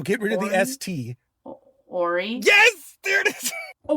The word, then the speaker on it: Willie O'Ree: In story, when I said story, how was I pronouncing O-R-Y?